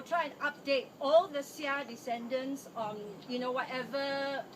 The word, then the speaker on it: Seah: actually the snake pronounced The as snake, Seah, 蛇咯，对咯， Seah Eu Chin, the Chinese pronunciation.